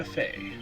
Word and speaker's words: Fey: Fey.